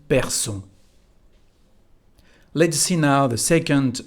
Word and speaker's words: perçons: As you can see again here, because there is a O, we need the cédille to keep the pronunciation nous perçons.